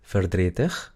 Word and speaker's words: verdrietig: Yo creo que se acuerdan que la E cuando es muda siempre se pronuncia Entonces, acá tenemos dos es mudas. Tenemos en la palabra je y tenemos en ver. Pero no se dice verdrietig, se dice verdrietig.